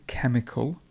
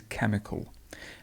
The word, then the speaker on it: chemical: and this word is chemical chemical so we go from a sure sound to a cur sound this is a ker this one is sure and this one is k so this is chemical and again we've got